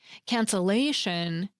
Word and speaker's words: cancellation: In other words, because we pronounce "cancellation" with the stress on the A — "can-cel-A-shun," we double the L before we add the rest of the letters.